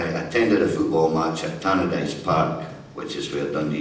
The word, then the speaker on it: Tannadice: And then one fortunate night, I attended a football match at Tannadice Park, which is where Dundee United play, or as Peter Sissons pronounces it, Tannadice.